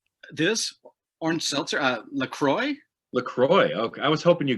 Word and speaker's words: LaCroix: the brady bunch here no how do you pronounce that this orange seltzer uh lacroix lacroix okay i was hoping you go well since